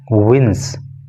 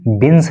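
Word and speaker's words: wins: देखो जैसे ये वर्ड है विंस, तो आपको इसको विंस बोलना है, इसको आपको बिन्स नहीं बोलना है।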